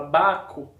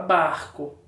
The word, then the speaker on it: barco: é que você fala você fala baco ou você fala barco que você fala barco então tenho r zinho aí no meio certo nossas atividades hoje vão